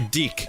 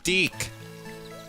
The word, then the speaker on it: DIC: named dick I'm sorry deck it's spelled DIC which if you remember your cartoons from the 80s and early 90s it it's pronounced deck this is a very